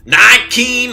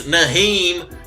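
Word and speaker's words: Nyheim: Can't be confident in a team starting Nykeem Hines. It's Naheem.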